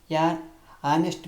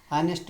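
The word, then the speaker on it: honest: ಇನ್ನೊಮ್ಮೆ ಇನ್ನೊಂದು ಉದಾಹರಣೆ ನೋಡೋಣ ಹಾನೆಸ್ಟ್ ಮ್ಯಾನ್ ಯಾವುದು ಹಾನೆಸ್ಟ್ ಮ್ಯಾನ್ ಅಂತ ಐತಿ ಹಾನೆಸ್ಟ್ ಮ್ಯಾನ್ ಇದ್ದಾಗ ಏನ್ ಬರಿಬೇಕು ಆನೆಸ್ಟ್ ಮ್ಯಾನ್ ಇಲ್ಲಿ ಹಂಗೆ ಉಚ್ಚಾರ ಮಾಡಬೇಕು ಸರ್ ಆಗಲೇ ಅವರ್ ಅಂತ ಬಂತು ಇಲ್ಲಿ ಇಲ್ಲಿ ಎಚ್ ಐತಿ ಮತ್ತೆ ಕನ್ಫ್ಯೂಸ್ ಆಗತಿ ಏನ್ ಬರಬೇಕು ಆನೆಸ್ಟ್ ಮ್ಯಾನ್ ನೋಡಿ ಉಚ್ಚಾರ ಮಾಡಬೇಕು ಗೊತ್ತಾ ಇಲ್ಲಿ ಬರಬೇಕು ಬರೆದುಬಿಟ್ಟರೆ ಸಾಕು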